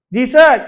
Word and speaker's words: dessert: ทราย มี แต่ ตาย deezer อยาก กิน ยาว ๆ ของ หวาน อร่อย อยาก กิน ยาว ๆ ออก เสียง ให้ ถูก ต้อง นะ ครับ ดีเซิร์ท คือ the sweet Coast ทวน